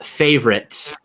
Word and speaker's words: favorite: And I am putting my tongue on the roof of my mouth at the end there to cut it off. So it's not like I'm saying favorite. I am shutting it off. So there is sort of a T sound.